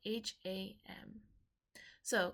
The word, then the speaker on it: ham: take three hams together pronounced kind of like an OHM but with an H all right so deep